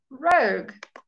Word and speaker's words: rogue: Rogue. Once again, you have a silent U.